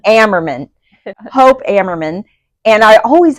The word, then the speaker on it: Ammerman: Ammerman. Ammerman.